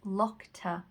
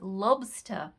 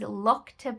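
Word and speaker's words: lokta: there and this is locta paper hopefully i've pronounced that clearly enough because some people were a bit confused in other videos and thought it was lobster paper no it is locta paper and that is handmade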